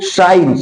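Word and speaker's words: science: उसी तरह से आप लोग देखिए लिखा गया साइंस, तो यस के बाद यहां सी आया है, लेकिन सी कहीं बोला जा रहा है? नहीं। यस के बाद जब सी आता है तो सी को प्रोनाउंसिएशन नहीं करते हैं, उसका उच्चारण नहीं करते, तो हम इसको साइंस बोलते हैं।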